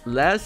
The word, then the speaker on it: les: Oh yeah, les is pronounced le. Ver is pronounced ver. Like they just don't pronounce the s.